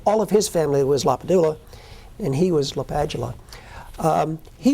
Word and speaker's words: LaPadula: When he grew up, he was Len Lapadula. He went off to college in the Jesuit called roll and said, Mr. LaPadula. And he liked it.